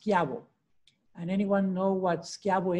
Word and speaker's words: Schiavo: that that is pronounced schiabo all right because just like my last name cio is pronounced so ci is pronounced ch however c h i is pronounced k it's a hard c so c i and